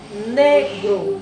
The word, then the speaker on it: negro: Observemos que negro. Então, nós temos negro. Então, a sílaba mais forte, né? Ne. Então, nós temos aqui última sílaba, penúltima.